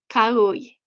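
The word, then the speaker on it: Kau'i: In Hawaiian, each vowel is pronounced none or silent. That is true. I knew that. However, native speakers tend to blend them together. For example, an au would be make a a sound.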